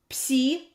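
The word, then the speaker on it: пси: Psi. Ps. The name psi. The sound ps.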